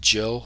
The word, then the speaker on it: Gillard: It's pronounced Jill, like the girl, soft G, not Gill, like the fish.